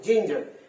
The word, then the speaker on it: ginger: তাহলে দুটো syllable, GIN, জিন, অনেকে গিঞ্জার বলে, না আমি বলবো জিঞ্জার, GINGER, জিঞ্জার। দেখো জি এর উচ্চারণ কিন্তু জ, আর ওখানে জি এর উচ্চারণ জে এর মতন, জিন। আবার জি এর উচ্চারণ গ হয়।